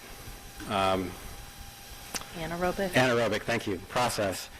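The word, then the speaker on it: anaerobic: an in I'm not saying it right um Anor robic Anor robic thank you process it generates a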